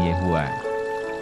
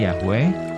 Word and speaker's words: Yehuwah: Yesaya 42 ayat 8, cara mengucapkan namanya berbeda-beda bergantung pada bahasanya. Dalam bahasa Indonesia, nama itu diucapkan Yehuwah. Tetapi, ada juga yang mengucapkannya Yahweh, baca Mazmur 83 ayat 18.